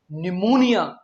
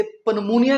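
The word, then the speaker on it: pneumonia: अगला वर्ड है निमोनिया। पी एन ई यू एम ओ एन आई ए जिसका मतलब है फेफड़ों की सूजन। आपने इसे पनमोनिया नहीं कहना।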